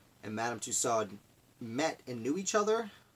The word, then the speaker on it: Tussaud: kind of familiar you may recognize the name madame tussauds to saud bana pronunciation Madame Tussaud who has several wax museums